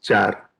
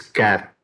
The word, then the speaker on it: char: that's a case keyword don't spell it as char it's care character okay most of the